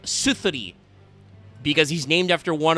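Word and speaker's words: Suðri: Sudri the Phantom Glimmer, except that's not correct. The Japanese way is pronounced Genyo no Suzuri, because that's the Nordic squiggle sign that looks like a D. It's a Skathi situation. This should be like Suthuri, because he's named after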